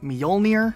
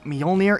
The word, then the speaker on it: Mjolnir: The armor itself in Halo is called Mjolnir, or part of Project Mjolnir. It's spelled like this, and while you could have some slightly different variations on how you might pronounce that, it's definitely not Mjolnir, so we just gotta clarify that right now.